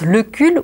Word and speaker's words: Lecul: Elle dit, aux personnes qui éventuellement auraient la tentation de t'appeler autrement que Lecul, tu leur dis, mais dites donc, calcul. Est-ce que ça se prononce calcul ou calcul? Et les gens, automatiquement, prononceront le cul.